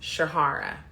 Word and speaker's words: Shahara: got to be like just so you know it's pronounced Shahara and then I always